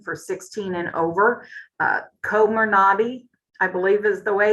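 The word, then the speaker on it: Comirnaty: for their vaccine for 16 and over uh komer nadi i believe is the way that we're pronouncing that and if you have been waiting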